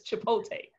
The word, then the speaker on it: Chipotle: saying it right now i don't know what they was talking about before it's chipotle okay let's get that name